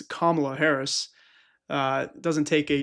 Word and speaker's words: Kamala: pretty critical of Trump, yet still called her Kamala. So I don't really understand where this guy sits on the political spectrum, because he blatantly mispronounced the vice president's name. It's Kamala Harris.